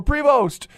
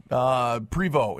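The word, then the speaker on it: Prévost: week we'll hear from cody prévot or prevost yeah Canadian prevot is actually how it's pronounced so stick around for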